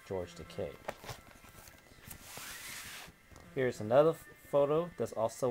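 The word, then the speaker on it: Takei: Keep in mind, his name is George Teay. It rhymes with okay, not Teai like you hear with some other people trying to pronounce his last name. That's totally wrong, but it's George Teay.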